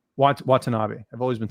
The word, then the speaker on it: Watanabe: How do you pronounce her last name? I want to ask you. You probably know. Watanabe. Watanabe.